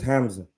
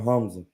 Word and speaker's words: Hamza: You but they I notice when you use that guttural sound in the throat, that's the sound of divinity. They're not gonna understand it. My name is Hamza. They'll be like, oh, Hamza. I say my name Hamza. They don't hear it. I even when I say it, it's hard to hear the middle. All you hear is the Mza.